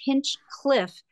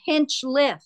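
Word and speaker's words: Hinchliffe: There's no C after the Hinch.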